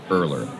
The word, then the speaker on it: Erler: administrative state by edwin erler earlier is spelled e-r-l-e-r that with earlier and it's by rowan